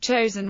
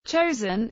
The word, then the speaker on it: Chosin: in the Korean War chosen is the Japanese pronunciation of the Korean name of Chang Jin the UN forces relied